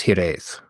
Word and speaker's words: hiraeth: So what is hiraeth? Hiraeth. It's a nice pronunciation, by the way.